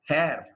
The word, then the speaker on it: hair: The R doesn't get pronounced. It is not hair. It is hair.